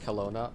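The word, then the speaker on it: Kelowna: Um, it's pron pronounced kona. Oh, really? Okay, my bad. Thank you for telling me sage spider so I don't embarrass myself for the rest of this flight. Kona. Is that correct now?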